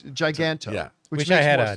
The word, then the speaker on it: Giganto: villain on the cover called, how did you pronounce it? Giganto. Giganto. Yeah. I always say Giganto, but you were probably right. It's Giganto.